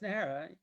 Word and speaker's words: Najera: nara oh rick nah it's nara hey okay look it's no big deal rick because it was just correct no no i want to get your name right i want to say it correctly because the j is like an h sound right it's a j